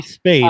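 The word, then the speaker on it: Speight: That would be Spade, as a guy that covers the Big Ten. There you go. I should really figure out how to pronounce his name, because I'm going to be skate with a P.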